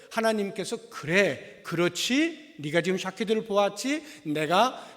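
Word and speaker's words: שָׁקֵד: 이 살구나무라고 하는 것이 히브리어로 사퀘드라고 하는 단어입니다. 이 사퀘드라고 하는 단어와 함께 그 뒤에 12절에 나오는 내가 내 말을 지켜라고 할 때 이 지켜, 이것이 쇼케드예요. 그러니까 발음이 굉장히 비슷하죠.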